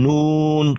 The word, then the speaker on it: Nun: guck mal, wir hätten vorhin ein anderes Sura, da war diese Buchstabe N, ja, und es wird an Nun gesprochen, ausgesprochen, Nun, an Nun.